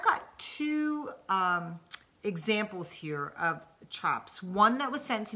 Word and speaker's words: tjaps: are created into what we call chops and we say it's ch Oh PS but it's spelled tja PS now what a chop